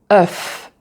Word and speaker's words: œuf: Alors, si tu parles anglais, c'est un peu similaire au son E que tu as en anglais. Donc, c'est pratiquement la même chose comme dans stuff. Et alors là, tu as œuf.